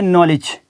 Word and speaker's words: knowledge: पे भी, फिर है नॉलेज, KNOWLEDGE नॉलेज। अब यहाँ पे भी नॉलेज के अंदर भी के बाद एन आया हुआ है, तो इसलिए यहाँ पर ये वर्ड क्या होगा कि साइलेंट हो जाएगा।